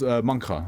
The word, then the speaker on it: Mancha: The accent in Mancha is pronounced like the cheese. So it was Mancha, okay. Like cheese, like ch.